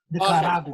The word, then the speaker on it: Nicaragua: It's Nicaragua. You roll your R's like when you speak Tereo. Nicaragua.